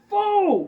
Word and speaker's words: pho: thing oh God boom it's faux or fa I think it's pronounced F technically but you know uh